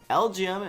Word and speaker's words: LGM: LGM is pronounced like the letters L, G, and M.